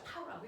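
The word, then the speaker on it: τ: 타우라고 읽어요.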